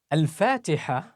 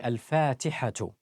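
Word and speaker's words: الفاتحة: Al-Fatiha, that ha pronounced at the end, you can pronounce it as ha, al-Fatiha. However, it's actually al-Fatihatu. It's a ta marbuta, al-Fatihatu. So this is how it goes.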